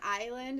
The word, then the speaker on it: island: An island is always island. Yes. Oh, Yes. It's an yeah. island. Yeah, because the S is silent.